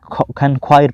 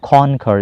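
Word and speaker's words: conquer: मैं तस्दीक कर दूँ, ये सही लफ्ज़ है कॉन्कर। कॉन्क्वायर पढ़ा था मेरे ख्याल से, मैंने गलती से पढ़ा था, तो ये लफ्ज़ है कॉन्कर, इसका सही प्रोनाउंसिएशन कॉन्कर, फतह करना, मुसख्खर करना, यानी कैप्चर, ओवरकम।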